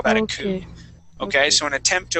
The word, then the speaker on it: coup: task as well you would call that a coup okay so an attempt to overthrow a person okay so remember class um when you when you see this this would be coup now if you're talking about a twodo car